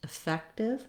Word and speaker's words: effective: Same syllable stress with the second syllable fec stressed, effective, effective.